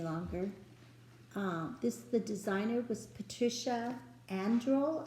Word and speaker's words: Andrle: The designer was Patricia Andrle, I think is how you say her name, Andrle.